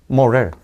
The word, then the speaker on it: moral: moral. 얘가 애 발음이 나는 거지.